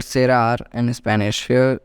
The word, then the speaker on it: cerrar: To close in English called cerrar in Spanish. Here E is something that makes C to pronounce like L C, therefore it is cerrar in Spanish.